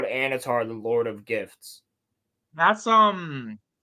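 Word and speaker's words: Annatar: So that's supposed to be Anatar, but he has the same face.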